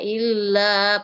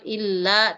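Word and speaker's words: إلا: Mendengungnya bunyi tasydidnya illa, panjangnya bisa sampai 4 harakat, illa, tapi tasydidnya tidak boleh panjang. Tidak boleh lama-lama. Sekedarnya saja. Illa. La-nya yang panjang. Illa ayyamam ma'dudah.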